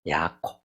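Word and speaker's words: יעקב: 야곱의 히브리식 발음은 야콥입니다. 야콥.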